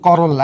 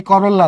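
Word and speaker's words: corolla: আমরা এটাকে বলবো করোলা পোলাপাইন কয় করোল্লা এই করোল্লা না করোলা একেলের উচ্চারণ হয় না আর দলমন্ডলের প্রত্যেকটা সদস্যকে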